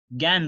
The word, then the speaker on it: gangue: गैन बोलते हैं, गैन। तो स्पेलिंग थोड़ा अलग है, GANGUE, लेकिन उसका प्रोनाउंसिएशन वैसे ही करते हैं।